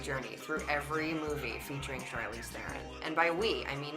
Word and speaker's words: Charlize Theron: So it technically is pronounced Charlize Theron That was really good. with a rolling R and everything else squashed into one syllable.